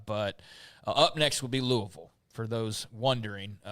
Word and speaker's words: Louisville: or not uh but up next will be Louisville for those wondering say right you said it